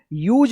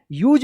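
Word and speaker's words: use: पे रूल्स बदल गया लास्ट में इ आया है तो इससे पहले अगर यू आता है तो यू का यू उच्चारण होता है देखिए यूज पढ़ेंगे क्या पढ़ेंगे यूज पढ़ेंगे अ सी ओ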